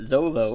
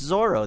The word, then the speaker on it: Zoro: No, but is it Zolo or is it Zoro? It's Zoro. They say Zoro. I hate the original English publication. Or how'd that happen? Because L's and R's are the same, pronunciation in Japanese, so they just went with the L instead of the R.